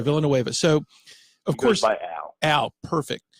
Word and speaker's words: Villanueva: you pronounce this less is it Villanueva is that how you pronounce it yeah Alejandro Villanueva so of course I